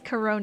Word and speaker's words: Charon: Um I guess Charon is technically the correct way, so it's hard to change, though.